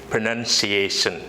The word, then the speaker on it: pronunciation: that word so the correct pronunciation of pronunciation is pronunciation ok to go ahead let me just like